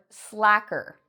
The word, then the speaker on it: slacker: that is the word slacker. A slacker, and for some of you this might be a hard word to pronounce because we have an S and an L together.